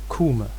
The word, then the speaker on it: Kûme: And the rules of that reconstructed Egyptian vowel system say that E usually goes back to long U. There are exceptions in certain consonantal environments, but usually it goes back to U. So we can reconstruct the name of Egypt during the time of the New Kingdom as Kûme.